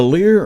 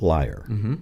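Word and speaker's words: lyre: can you do that yeah is it a Lear or a liar what's the pronoun it's a liar liar that's a pronunciation in in the scriptures yes and that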